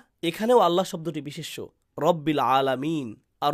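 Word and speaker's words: الله: আলিফ এর পর লাম আসলে তার উপর তাশদিদ দেয়া হলে উচ্চারণ হবে আল্লাহ হালকা উচ্চারণে। কিন্তু আল্লাহ যখন বলি এর উচ্চারণ কেমন হয়? আল্লাহ আমরা ভারী উচ্চারণ করি।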